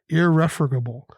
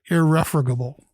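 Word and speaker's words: irrefragable: it should be done irreformable it is five syllables i-r-r-e-f r-a-g-a-b-l-e means that which cannot be refuted or indisputable so irreformable so you know where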